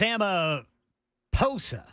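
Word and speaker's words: Ramaphosa: It's Emma Posa. Not saying Amaposa. I was calling Amoposa. Apparently the H in South Africa is silent.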